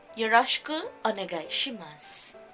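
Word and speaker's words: よろしくお願いします: Yoroshiku onegai shimasu. Yoroshiku onegai shimasu. Yung U nito is silent siya, ha?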